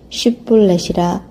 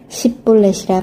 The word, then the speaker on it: 쉿볼렛: 그가 만일 아니라 하면 그에게 이르기를 쉿볼렛이라 발음하라 하여 에브라임 사람이 그렇게 바로 말하지 못하고 십볼렛이라 발음하면 길르앗 사람이 곧 그를 잡아서 요단강 나루턱에서 죽였더라.